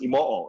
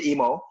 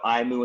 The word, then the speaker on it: Imo: So my last name, Imo, is actually pronounced Imoo in Japanese because of the double O, but I don't say that. It sounds like I can't speak properly. So I say Imo. I get a lot of Aimu and Imu because of the way it's spelled. So it's Imo.